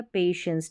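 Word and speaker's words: patience: पेशेंस क्योंकि टीआई है ना सीधी सी चीज़ है। टीआई को यहां पर श पढ़ा गया है। ठीक है? पेशेंस टी आई को श पढ़ा जाता है। इसलिए श पेशेंस यानी धैर्य धीरज और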